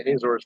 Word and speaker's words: Azores: i was pronouncing properly i know one might might think it was supposed to be azores but they actually do say azor's there which uh is a